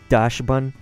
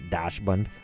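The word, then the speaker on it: Dachsbun: dash button isn't it Dash bun right kind of like dachshund could be Doc's button but I think it's when you say it like that Dash Bund so anyway uh torko we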